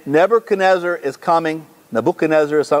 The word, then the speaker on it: Nebuchadnezzar: Nebuchadnezzar, I was told, is the right way to say it.